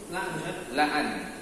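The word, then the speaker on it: لأن: La'an. Bacanya itu la'an, bukan li'an ya.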